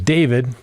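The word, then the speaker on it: D4vd: musician David Anthony Burke, known professionally as David, but spelled with a four.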